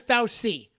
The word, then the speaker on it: Fauci: doctor on the most demonic Mass murderers Dr fauci they call him his name is fausti Dr fauci that that inquisitional that Jesuit that